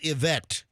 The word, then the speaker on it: Ivette: Oh, Ivette, but it's pronounced Yvette.